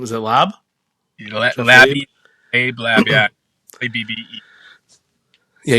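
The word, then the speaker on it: Labbe: Labby.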